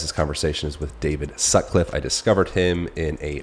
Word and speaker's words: Sutcliffe: it with David Sutcliff you say your last name Sutcliff Sutcliff Su Cliff you got it you said it right it's hard it's too